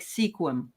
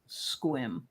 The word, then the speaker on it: Sequim: e quu i m it looks like Sequim but it's actually pronounced squim okay I'm gonna take